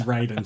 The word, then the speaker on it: Raiden: I use the Mortal Kombat pronunciation of the name. He's Raiden to me, and arguably the best Mortal Kombat character as well, by the way.